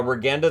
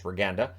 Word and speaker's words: Regenda: gonna win it uh regenda then at a net drive that was saved so I was pronouncing it regenda sorry it's reganda and yeah he looked